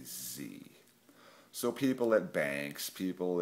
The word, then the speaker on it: Sie: is per Z, and a German S is pronounced as the letter Z.